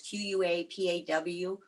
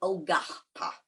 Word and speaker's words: Quapaw: It is spelled several different ways. Kwapa was one of the very early writings and spellings by the Scouts. Today it is Quapaw, Quapaw, or Ogapa is the correct pronunciation.